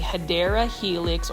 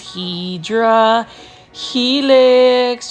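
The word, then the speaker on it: Hedera helix: new viewers I um mispronounce hadera Helix as hedra Helix just because for the longest time I was mispronouncing it as hedra Helix when I first did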